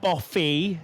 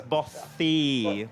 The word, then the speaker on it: bothy: Yes, It's definitely bothy. it's not boffy, it's bothy.